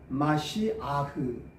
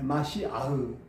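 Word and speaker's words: משיח: 히브리어 발음은 마시아흐 예 마시아흐 예 참고로 이제 알아두시면 좋겠습니다.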